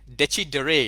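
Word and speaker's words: decidere: comes from the word desi deray deci deray is the right pronunciation for it's a latin word d-e-c-i-d-e-r-e digital dictionary means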